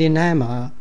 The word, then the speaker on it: enamour: Clamour and enamour rhyme with the hammer.